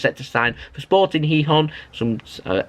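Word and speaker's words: Gijón: that he was set to sign for sporting heon some uh it's pronounced heon by the way but it's spelled gon g i j o n but it's heon over in Spain on a season long loan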